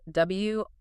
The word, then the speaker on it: Wrotham: It's spelled W-R-O-T-H-A-M. But it's pronounced Wrotham. We've been told to be really clear on that. So we'll be saying Wrotham School for this whole deep dive.